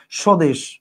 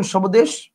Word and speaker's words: স্বদেশ: বলেন সবামী বলেন না স্বদেশ আপনি কি বলেন সবদেশ বলেন না আপনি বলেন স্বদেশ মানে এইটার বফলার উচ্চারণটা